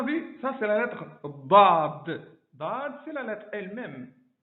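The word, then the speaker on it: ض: Donc do, vraiment c'est une prononciation avec la langue qui va s'étaler sur les bords des dents. C'est comme si on appuyait sur le bord des dents de l'intérieur.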